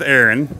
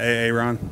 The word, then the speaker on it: Aaron: I'm sitting here with Erin right did I say it right yeah it's not a Ron nope I wish it was